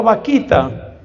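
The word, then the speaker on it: Bakhita: él y que tiene un nombre que suena chistoso en español porque se llamaba Vaquita, pero resulta que ese vaquita es un nombre africano y se escribe con B grande.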